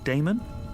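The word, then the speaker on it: Daemon: a e m o n how do you pronounce that Damon if you prefer and this address I guess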